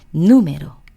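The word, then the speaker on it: número: 이것 또한 한번 보시면 오로 끝났죠. 오로 끝나서 맨 뒤에서 두 번째는 어떻게 돼요? 에가 되겠죠. 그래서 원래는 누메로겠죠. 누메로. 누메로. 이상하네요. 이렇게 읽으니까요. 누메로인데 예외입니다 라고 해서 이거는 맨 앞에 우에 아센토를 찍어서 이 부분을 올려주세요 라고 부탁을 하는 거죠. 자, 그래서 누메로.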